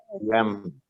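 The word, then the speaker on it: ים: Yam. Yam. ¿Listo? Yam. Yam. Es una yot y la mem. ¿Listo? Pero si nosotros le agregamos la Heya Megamá, quedará como está acá. Yama.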